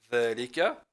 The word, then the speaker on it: ذلك: Donc dhalika, dhalika, al-kalimat dhalika, hein, ici, tuntaku dhalika, hein, on le prononce dhalika et on l'écrit dhalika sans le mettre, mais on le prononce avec le mettre.